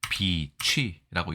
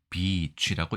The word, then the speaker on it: 翡翠: 자 도금은 어렵지 않습니다 비치라고 읽습니다 앞에가 장음이 그래서 비치라고 읽어야 되는데 자 명사로서 광 물중에